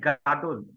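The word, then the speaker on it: גדול: So it pronounced like gadol.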